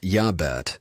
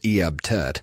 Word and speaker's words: Iabet: Pronounced Yabet or sometimes Eabt.